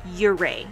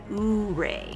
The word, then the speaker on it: Ouray: And yes, it's pronounced Ouray, not Ouray. Say it like a local.